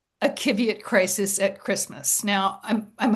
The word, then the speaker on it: Qiviut: I'm going to spell it Qiviut. All right, Kiviot.